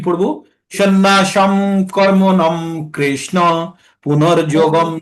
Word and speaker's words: সন্ন্যাসং: এখানে যতগুলো অনুস্বার আছে সব অনুস্বারগুলোর উচ্চারণ আধা ম হবে। তাই আমরা কি পড়বো? সন্ন্যাসম কর্মণম কৃষ্ণ পুনর্যোগম চ সংশোষি।